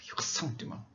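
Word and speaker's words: ressentiment: 영어로는 resentment, 불어로는 흑상띠망이라고 읽죠. 흑상띠망.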